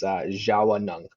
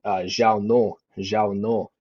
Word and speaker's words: Zhaawnong: the W and the N, and it goes Zhaawnong, kind of more flows like that. It's like goes from 2 syllables to three.